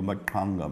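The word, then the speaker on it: Mbaqanga: Correct pronunciation would be Makanga music, pretentious as it may be to say it that way.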